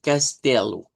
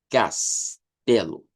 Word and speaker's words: castelo: Eh, la siguiente es Castelu. Castelu. Ahí tendríamos el sonido de una de una K, una T E. En ese caso no se cambia por el sonido de chi porque no está al